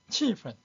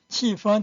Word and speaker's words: 气氛: 2번 欢乐的气氛欢乐的气氛 우리말로 즐거운 분위기 자 사전에는 气氛 일성으로 발음했는데 펀을 실제 생활에서는 气氛 경성으로 하기도 합니다. 북경 사람들은 명사에서 웬만한 뒤에 있는 단어는 다 경성 처리해버려요. 气氛学生 이렇게 합니다. 气氛 해도 되고 气氛 해도 됩니다.